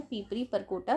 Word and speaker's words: पीपरी परकोटा: परकोटा मिलता है सिंगरौली, इसमें पीपस लिखा हुआ है, पता नहीं क्यों, वैसे इसका सही प्रोनाउंसिएशन है पीपरी परकोटा सिंगरौली के से कोरंडम मिलता है।